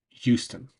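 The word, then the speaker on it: Euston: And it's it's spelled like Houston, like the city in Texas, but it's locally pronounced Houston, not an S. There's no H sound. The H is dropped.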